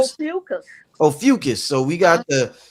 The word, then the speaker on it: Ophiuchus: How do you pronounce it? Ophiuchus? How do you Ophiuchus? Ophiuchus.